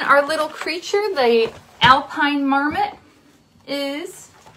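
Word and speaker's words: marmot: is a l p i n e and Marmet is m a r m o t hm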